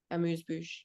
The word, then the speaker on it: amuse-bouche: A little, how do you pronounce that with the French accent? Amuse-bouche. Amuse-bouche, amuse-gueule. In Quebec, we say amuse-gueule, and yeah, probably in Okay. France, they say amuse-bouche.